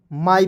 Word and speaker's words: my: MY माई पढ़ेंगे, एम का म, अंतिम में वाई आएगा, इसका उच्चारण आई के रूप में करेंगे, हो जाएगा माई।